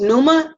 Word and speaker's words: Pneuma: It is pronounced pneuma, like pneumonia. It is spelled P-N-E-U-M-A.